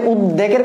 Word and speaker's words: উদ্বেগ: এক্ষেত্রে অনেকেই বুঝতে পারো না যে বফলার উচ্চারণ বলতে কি। দেখো আমরা যে উদ্বেগের কথা বলি, এটা কিন্তু আসলে উদ্বেগ, হ্যাঁ, আমাদের